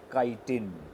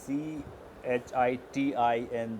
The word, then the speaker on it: chitin: plant it is made of a material called chitin pronunciation is c h i t i n the spelling pronounced as chitin okay chi tin